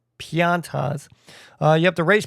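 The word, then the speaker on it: Pianta: Now, pianas, I think I'm mispronouncing that. I just called them piñatas because the word looks like piñata. Uh, but they're pontas.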